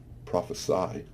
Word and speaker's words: prophesy: When you pronounce it with the Y sound, prophesy, it becomes a verb.